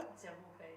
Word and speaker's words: Dziewuchy: I'm sorry, I'm going to pronounce it so wrong. I think Dziewuchy, how it's called? Dziewuchy, yeah.